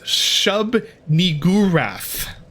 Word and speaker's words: Shub-Niggurath: You pronounce it Shub-Niggurath.